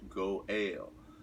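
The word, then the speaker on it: גואל: redeemer say that kinsman redeemer in hebrew it's pronounced go ale and what it means is if my father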